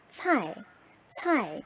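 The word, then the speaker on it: 菜: 차이라고 읽겠죠? 그런데 여기 성조가 몇 성? 제4성이에요. 어떻게 읽는다? 차이, 차이 이렇게 읽겠죠.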